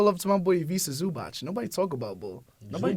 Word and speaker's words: Zubac: of us think of Zubac as like old Zubac that was just putting up hook shots and 5 rebounds. He not even Right. pronounce his name right. That's how much he don't respect him. Zubac.